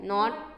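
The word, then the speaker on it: knot: आई am going to टाई अ नॉट tomorrow. नॉट नहीं पढ़ना, नॉट के silent है यहाँ पे।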